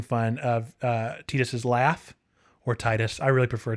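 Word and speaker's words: Tidus: on G4 making fun of Titus's laugh, or Titus. I really prefer Titus, but I know Titus is the proper pronunciation, but it's just, I don't like it.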